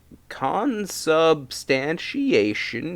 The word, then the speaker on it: consubstantiation: And now I'm a firm believer in consubstantiation, that's how you pronounce it, and the sacrilege, the sacraments.